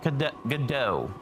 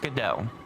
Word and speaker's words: Godot: I have downloaded a little piece of software called Godot, and I did look that up. It is pronounced Godot. You could also pronounce it Godot or Godot as well, but I am going